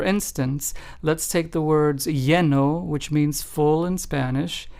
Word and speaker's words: lleno: Lleno and pollo. Notice how in both of those the two L's sound like a Y in English.